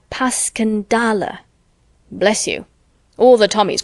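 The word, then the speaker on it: Passchendaele: Marant, it was so strange to hear you call it Passanddale. Why, if I may ask? because that's the way I pronounce it to myself. But I looked it up and it's more like puscandala.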